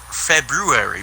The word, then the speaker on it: February: like the month Feb it's supposed to announce February but everyone says if they'd be worried yeah